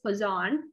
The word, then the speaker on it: Poisson: one goes on distribution make a poisson but the the best way of pronouncing is poison this i is island right